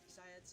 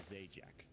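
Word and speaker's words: Zayac: The right pronunciation. Zayat's his name. It's still ongoing, but most of these have scrapped it by now. That was one. Guess what I was pronouncing Zayat's before I understood correctly. Zayak? I was calling him Zajac, because so that was like completely wrong at that time.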